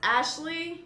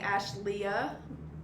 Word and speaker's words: Ashlea: It's pronounced Ashley, but it's spelled with an A at the end. So a lot of people call me Ashleah.